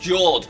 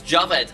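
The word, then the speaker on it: Jawed: Lots of people think that his name is pronounced Jord, but it's not. It's Javed. I checked. Bit of trivia for you.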